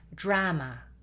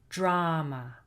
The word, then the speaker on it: drama: It's not drama and it's not drummer. Drummer is the person in a rock band that plays the drums. No, drama, drama.